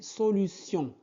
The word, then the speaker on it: solutions: Des solutions. Sion. Donc, sion. Situation, action, solution. On prononce donc T-I-O-N-S. T-I-O-N se prononce sion.